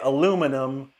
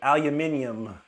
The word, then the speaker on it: aluminium: The British say we say aluminum, and the British say aluminium. That's how the British say it.